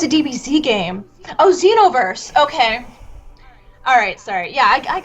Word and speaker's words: Xenoverse: Anyone play Xenonverse 2? Is that how you say it? Oh, it's a DBZ game. Oh, Xenoverse.